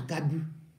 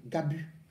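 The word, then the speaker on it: Gabú: bon donc la fille va à Gabu pas garbu hein Gabu ça s'écrit g au dès que c espoir a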